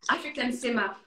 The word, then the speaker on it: Afric'An Sima: yes right you've created an app it's called african cinema am i pronouncing it correctly yes okay african cinema so what is african cinema how what is